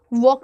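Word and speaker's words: walk: नहीं पढ़ते हो और वॉक में एल नहीं पढ़ते हो।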